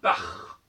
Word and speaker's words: Bach: C'est plutôt pour une gutturale, comme dans Bach, Jean-Sébastien Bach, en allemand on dit Bach.